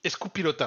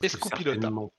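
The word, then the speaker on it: euskal pilota: basque donc poelot basque ça se dit escou pilota alors je prononce super mal je pense hein j'ai j'ai pas du tout l'accent basque donc c'est escou pilota voilà pilota bah certainement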